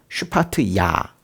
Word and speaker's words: 스바디아: 근데 이제 스바디아 이름 이제 잘 안 느껴지는데 이게 히브리어 원래 발음은 슈파트야이거든요. 슈파트야.